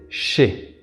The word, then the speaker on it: je sais: In the affirmative sentence: I know, we have a tendency to pronounce CHAY.